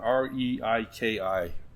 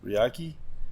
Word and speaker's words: Reiki: um I looked up I can't pronounce it r e i k i Reiki riyaki Reiki Reiki oh that sounds right Reiki is that